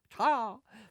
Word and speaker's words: Chia: Oh, it's pronounced as China without the N. Chia? Chia!